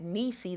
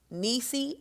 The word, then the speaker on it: Neice: email and you can reach me there at nisi that's spelled n e i c e at the